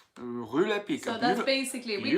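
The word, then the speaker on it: Rue Lepic: I got these on Rue Le Pic. Rue Le Pic.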